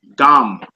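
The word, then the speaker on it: גם: The word is gum. Gum. Like gum, if you want to say it like that, just to remember that.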